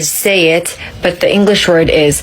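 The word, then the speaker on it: שית: Another one is Shin, Yod, and Tav together. It is read say it, but the English word is thorns.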